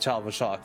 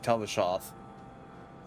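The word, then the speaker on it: Tal-Vashoth: Besides the random encounter with Talvashoth there just then. Or not Talvashoth, Talvashoth. Wrong ending syllables.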